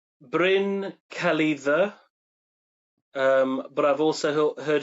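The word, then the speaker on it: Bryn Celli Ddu: definitely inspired by um now I'm going to pronounce it how I think is the correct way but I've been I've been told different ways to pronounce this name. Um, bring Kelly the um, but I've also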